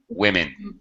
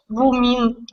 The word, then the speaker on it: women: like an I wi women sounds like two eyes plural women not women women women women yes so it's quite a bit different and the O sounds nothing like an O really three women one woman